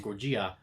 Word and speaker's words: Gojira: That's how you say it in Japan, Gojira.